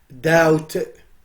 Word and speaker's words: doubt: B is not pronounced. It's silent. Doubt.